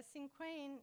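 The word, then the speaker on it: cinquain: here's another one of my squ is it pronounced s or squin squin okay sure a sinquin is a usually a feline poem and I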